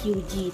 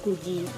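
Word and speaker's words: 九時: Selanjutnya, cara baca untuk jam 4 dengan jam 9 itu berbeda dengan bacaan lain. Jika jam 4 bacaannya yaitu yoji, sedangkan jam 9 bacaannya itu bukan kyuji tapi kuji.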